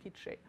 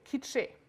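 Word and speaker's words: K'iche': from the linguist standpoint is a dialect of kiche but we classified as a language for historical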